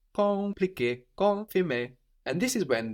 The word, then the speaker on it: compliqué: The M is kind of swallowed into the vowel before compliqué, confirmer.